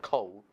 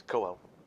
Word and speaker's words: Caol Ila: correctly see a oh it's not cold it's in firing cold it's cool go a little either go